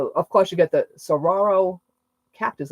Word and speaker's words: saguaro: And to go to Ironwood and see all the, of course you get the saguaro cactus. I think I said it right. Saguaro, yeah.